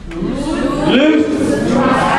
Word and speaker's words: loose: Loose. Rhymes with? Juice.